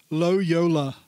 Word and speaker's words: Loyola: Yeah, his name almost sounds like YOLO. Loyola.